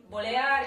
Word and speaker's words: bolear: from volar, to fly, and volar is written with the V, bolear is written with the B. So don't get confused if you see them written in different ways, but if you want to pronounce, I suggest you to make the sound more close to the V.